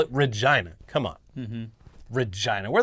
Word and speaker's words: Regina: People got real mad at us a couple weeks back because we pronounced Regina, Saskatchewan. Apparently it's pronounced Regina, which I refute.